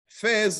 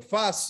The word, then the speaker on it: Fez: Fez or Fas, it can be pronounced in different ways.